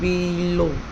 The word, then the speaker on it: below: and use a small dash to mark the syllable that is stressed. Teacher. तो टी पे यहाँ पे stress दे रखा है below.